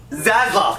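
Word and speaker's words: Zaslav: held by david's i looked up how to pronounce his name and i ready for god is zelda zelda david zelda zazlov there we go okay so he was the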